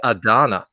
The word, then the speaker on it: Ardanna: I got the pronunciation now. It's ARDANNA.